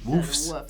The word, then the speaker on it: wolves: I'll put the L in there. Woofs. I don't normally pronounce the L, but I will.